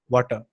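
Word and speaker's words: Watir: it is spelled as water but it is pronounced yes water okay the water that we drink or you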